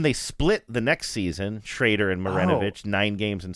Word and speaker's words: Schroeder: Okay, so in 1990 you just had I guess it's pronounced Schrader. It's spelled like Schroeder, but it was pronounced Shrader.